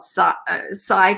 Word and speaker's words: psi: designed, so robust, so scientific on the so-called psi phenomena. It's spelled PSI.